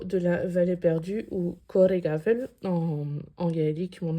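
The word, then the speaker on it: Coire Gabhail: BH, ça fait VE, c'est tout ce que je peux vous dire.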